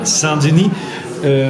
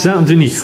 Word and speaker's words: Saint-Denis: Saint-Denis. Und zwar Saint wie ein schönes deutsches und Denis wie ein Ö wie Döner oder eine Mischung aus Ü und E, habe ich gesagt.